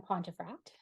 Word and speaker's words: Pontefract: of excellence and today my guest is pontefract I am pronouncing that correctly right yes you got it